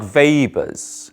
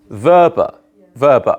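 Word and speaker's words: Weber: a bit more like Vapors sort of Rhymes a bit like sort of Darth Vader because it's a German name who speaks German in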